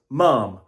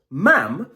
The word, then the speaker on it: ma'am: However, this word is pronounced ma'am when it rhymes with jam when talking to British royalty.